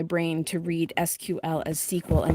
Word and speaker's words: SQL: I also in the data class that I'm taking, there's a thing called SQL, and apparently people who aren't me decided that SQL would be pronounced sequel, but of course every single time that I see it, my brain says squirrel.